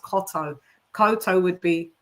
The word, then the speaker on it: Cotto: at his name and it is TT O so it is supposed to be pronounced Cotto Cotto would be C O T O but yeah shouts out.